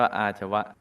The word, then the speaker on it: อาชวะ: ทุก อย่าง 4 อาชวะ อ อ่าง สระ อา ช ช้าง วอ แหวน สระอะ อ่าน ว่า อาชวะ ทรง ซื่อ ตรง ไม่